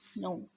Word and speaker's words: know: अब यहाँ पर अकॉर्डिंग टू आवर नॉलेज ये था कि मे बी इस वर्ड की प्रोनाउंसिएशन होगी कनाओ, लेकिन ये वर्ड है नो, बिकॉज इसमें के भी साइलेंट है, इसमें डब्ल्यू भी साइलेंट है।